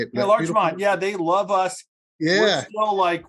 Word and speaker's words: Larchmont: Yeah, Larchmont.